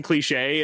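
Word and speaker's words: Cliché: It's spelled all like it's like KLEE-SHAE umlaut. But yeah, it's Captain Cliche, and it's like, oh wow, she was hiding her identity.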